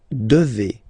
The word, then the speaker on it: devez: Okay, and then vous devez. Remember, classic ending for vous here, a Z, but then you pronounce this combination of two letters, et, devez, devez, vous devez.